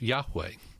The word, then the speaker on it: Yahweh: introduced by the lord to moses and it's pronounced yahweh and yahweh is of course the word jehovah